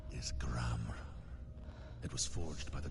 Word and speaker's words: Gram: The sword named Gram. The R is silent, clearly.